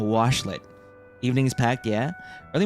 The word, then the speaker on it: washlet: I'm saying it correctly now, washlet.